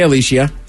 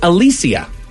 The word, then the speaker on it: Alicia: I would say Alicia. Alicia Silverstone. It's actually Alicia.